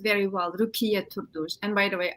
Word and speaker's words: Rukiye: it correctly is my name is a you pronounced very well rukia Toulouse and by the way I operated to